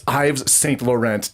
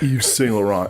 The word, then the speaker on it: Yves Saint Laurent: They pronounce it like so wrong. It's Yves Saint Laurent, doggone it. Come on. It's not Yves Saint Laurent.